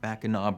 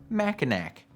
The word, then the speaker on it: Mackinac: by the nearly 5-mile-long Mackinac Bridge. Bonus misconception, it's not pronounced Mackinac. Only an absolute fool would call it Mackinac.